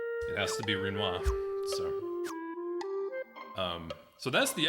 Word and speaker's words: Rinoa: she is good at rhymes with quinoa better than rinoa which is how i